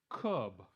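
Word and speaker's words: Kubb: I I'm just tasting nasty this one is pronounced cub two teams take turns tossing sticks at each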